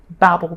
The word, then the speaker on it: Babel: story about the tower of Babel or Babel or however you um pronounce it. Sometimes people say babble because it's all about language and babbling and and the different languages.